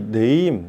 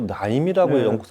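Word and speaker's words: Naim: 소리는 많습니다 근데이 네임 우리 뭐 나임이라고 읽기도 하고 그러는데 뜻이 뭐예요 저도 최근에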